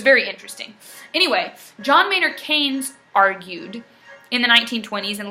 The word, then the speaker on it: Keynes: His last name is Keynes, K-E-Y-N-E-S. So it's spelled Keynes, but it's pronounced Keynes.